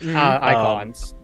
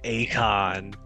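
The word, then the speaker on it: Eikon: Icons. Icons, yeah, they're icons in this one. So funny that I've never actually heard how they're pronounced. So I always called them like Akon, like so the singer.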